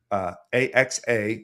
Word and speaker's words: AEXA: AXA is how it's pronounced, AEXA, and that is AEXA.tech, correct?